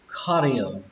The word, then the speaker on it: carrier: Còn cái từ này trọng âm của nó sẽ là âm đầu tiên, âm khờ. Mặc dù nó ghi là âm C này nhưng chúng ta sẽ đọc là âm khờ, khờ.